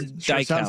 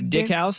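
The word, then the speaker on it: Dykhouse: Is it Dick House Stadium or Dyke House? No, Dick House to me. Yeah, that's It's Dick House?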